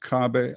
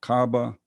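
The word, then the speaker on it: Kaaba: Now, this is the it's pronounced cabab or cabba.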